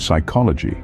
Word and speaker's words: psychology: Words like knee, gnome, honest, and psychology can really throw you off. Remember, the K in knee is silent, just like the G in gnome, the H in honest, and the P in psychology.